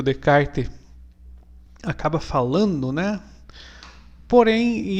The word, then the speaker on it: Descartes: hoje vai ser sobre renê de kart escreve descartes né que era francês a pronunciar de kart né é filósofo aí